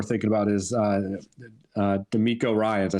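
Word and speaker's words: DeMeco Ryans: fourth one we're thinking about is uh uh D'Amico Ryan's I said it right this time right yeah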